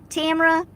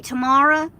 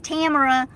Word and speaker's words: Tamera: And so I always tell people my name is Tamera, like camera, and it helps people to remember my name.